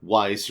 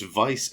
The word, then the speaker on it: Weiss: It's Weiss, or Vice, however you say his name. It's Vice and Nero, the brothers that would be Sephiroth.